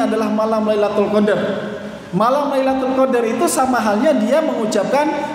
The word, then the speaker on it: Lailatul Qadr: yaitu Lailatul Qadr atau Lailatul Qadri tidak dibaca Lailatul Qadr with tapi lailatul qadar atau rela toko diri